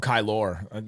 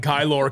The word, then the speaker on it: Kylor: want to call him kylor you know spell it's spelled with an o r at the end Star Wars KY that's what it sounds like kylor Kelly kylo Ren Kelly actually I'm gonna call